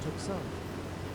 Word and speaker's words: Tucson: Far underscore evil underscore D 1974 said, it's actually pronounced Tucson.